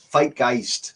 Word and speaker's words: Fight Geist: Fight Geist. Oh, yeah. Rhymes with kind- Zeitgeist.